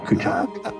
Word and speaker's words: Kuchuck: Now, when I say your name in the show, is it Kuchuck? Well, I actually pronounce it, but if you're going to go by the spelling, yeah, Kuchuck.